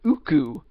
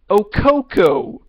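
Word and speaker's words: Ooccoo: talk about the character Uku, they call her Okoko. They couldn't pronounce a character's name right, and there is no annotation or correction.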